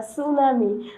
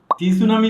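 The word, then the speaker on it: tsunami: স্যার টি সুনামি না, সুনামি। টি আর সুনামি না, family না, ফ্যামিলি। টি সুনামি না, এটা তো টি দিয়া শুরু হয়েছে, তাহলে টি সুনামি কেন হবে না?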